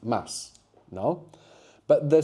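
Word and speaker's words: ます: So whilst mass is written mu is generally pronounced mass.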